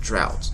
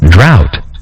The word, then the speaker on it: drought: example the word drought it looks like it's going to be like drones but no it's pronounced drought let's hear it sounded for us right now do you hear that drought droughts okay and so